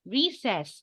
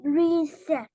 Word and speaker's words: recess: You say recess, not recess. Recess. Recess. S-s-s, s-s-s, recess. A sizzle.